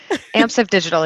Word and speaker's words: Amsive Digital: path interactive right did i say it right amps of digital yes so tell us tell us about your